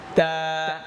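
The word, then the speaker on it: ت: বা তারপর তা তা জিহ্বার আগা সামনের উপরের যে দুই দাত দাঁতের গোড়া তা তা এতা হরফটা পাতলা হবে কি হবে জি তা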